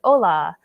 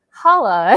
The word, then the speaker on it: hola: and you have like hola, and a lot of people's like default screen reader pronunciations is like in English, so they might pronounce it holla, and you wouldn't want that to happen.